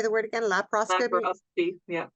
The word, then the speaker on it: laparoscopy: lapos how do you say the word again laparoscopy yeah laparoscopy so for for people that go in for